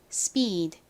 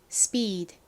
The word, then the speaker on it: speed: 어떻게 발음이 된다고 말씀드렸죠 좀 세게 거의 쌍비읍 가깝게 발음이 된다고 말씀드렸죠 발음 연습해 볼게요 speed speed 좋습니다 자 지우고 써